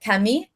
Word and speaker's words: Camille: Is how French people, like her name is spelled Camille, but French people pronounce it Camille.